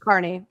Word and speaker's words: Kearney: Aidan Kearney or Aidan Carney Carney Yeah, Carney, excuse me. I just said it wrong.